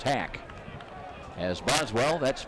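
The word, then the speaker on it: Hach: Spelled H-A-C-H. They told us it's pronounced Hack.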